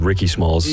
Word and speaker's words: Rickismalls: It's like Ricky Biggie Smalls. Smalls, but Rickismalls.